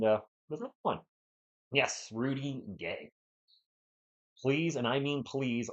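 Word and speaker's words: Gueye: For the Hawks, Young, Daniels, Risashe, Guy, Gay. You guys said it was Gay? That's how you pronounce his name.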